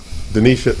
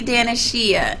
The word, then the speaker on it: Denisha: Yeah, so it's Denisha, but I go by. Oh, we'll make up your mind then. And EL was calling me Danishia, and that's because of the way it's spelled. So it's not totally your fault because it has an IA at the end.